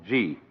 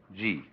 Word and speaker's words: Ji: easier to remember than Chinese and easier to pronounce. First of all, the world that is called Ji, J-I.